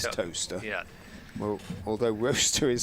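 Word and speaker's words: Towcester: R O C E S T R as in toaster. That's how you like toaster the place, isn't it? T O W C E S T R. That is toaster.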